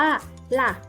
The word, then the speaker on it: ล่ะ: นะ จ๊ะ ก็ มาก คำ ว่า ล่ะ ลอ ลิง สระ อะ ไม้ เอก ออก เสียง ว่า ล่ะ เด็ก ๆ เรา ออก